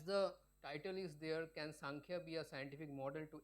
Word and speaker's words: Samkhya: Samkhya, it is pronounced as Samkhya.